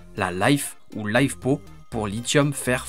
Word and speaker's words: LiFe: Il existe une troisième technologie qu'on prononce souvent à l'anglaise, la LiFe ou LiFePo pour lithium fer phosphate.